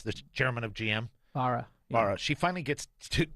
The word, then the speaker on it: Barra: yes, this is Cadillac, and Mary Barra, is that how we pronounce the chairman of GM? Barra.